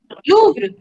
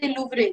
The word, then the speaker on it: Louvre: Louvre. There is no matra. You don't have to say Louvre. There is no matra or EZ.